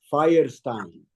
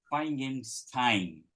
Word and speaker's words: Firestein: É igual é pedra de fogo, igual em inglês Firestone, Firestein, só que é em polonês, né? Difícil é ler todas as consoantes e descobrir que se pronuncia dessa forma, mas é Firestein.